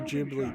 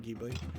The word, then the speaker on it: Ghibli: Any of the Ghibli, Studio Ghibli games, not Ghibli, it's Ghibli is how it's pronounced, like Princess Monaco, Spirited Away.